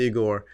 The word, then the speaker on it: Igor: That's how you pronounce it, Igor.